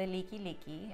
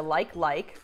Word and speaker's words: Likelike: Some common street names and highways that get pronounced wrong are 2 windward highways, the Liki Liki and the Pali. The wrong way we often hear it is either the Like Like or Likey Likey or the Pali.